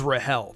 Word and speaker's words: Rachel: Also, a small disclaimer before we begin, I pronounce Rachel's name as Rahel, the same exact way Bomb does in the anime.